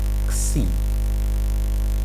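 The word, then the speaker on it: ξι: Nah, sekarang kita lihat tentang ksi. Ksi. Ini adalah huruf besarnya. Ini adalah huruf kecil. Dan ini adalah transkripsinya sama dengan X. Cara bacanya, lafalnya adalah ksatria.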